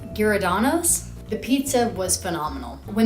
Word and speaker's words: Giordano's: Now, I think my pronunciation might be off, but I'm pretty sure you pronounce it Giordano's.